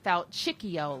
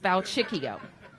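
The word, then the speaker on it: Falcicchio: that everybody should know how to say his name uh john feltchickio like little chicks valchiccio and today our non-profit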